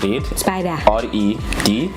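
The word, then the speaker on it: Red Spyda: But now the spider is spelled SPYDA. So it's Red Spider, REDSPYDA Web Design.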